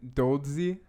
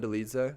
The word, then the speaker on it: Dolidze: Brendan Allen versus Roman Dolidze.